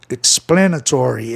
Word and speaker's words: explanatory: Aqui, explanatory, é aqui que vai ficar a sílaba tônica. A palavra é proparoxítona em função de terminar em consoante Y, como é o caso de vitória. Aliás, perdão, antiproparoxítona. Essas terminações é ARY, como eu vou explicando, né, no meu canal e no livro tem muitas terminações onde você conta a sílaba tônica, você conta na quarta casa silábica, ó, explanatory, explanatory.